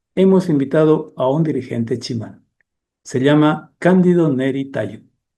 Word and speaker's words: Tsimane: Una de esas naciones es la del pueblo Chimán. Se escribe simane y se pronuncia chimán.